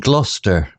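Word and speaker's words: Gloucester: with peculiar names like Lester pronounced Lester and gluster pronounced gluster they planned their Journey the expedition began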